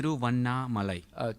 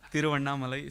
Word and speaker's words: Tiruvannamalai: Tiruvanna Malai. Okay. Like Ras Malai. Yeah. Tiruvannamalai.